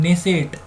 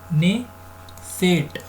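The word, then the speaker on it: Knesset: संसद का नाम है ने सेठ ने सेट ठीक है इसकी स्पेलिंग इंग्लिश में ऐसे होती है कि साइलेंट होता है अपने wi-fi सीटी ठीक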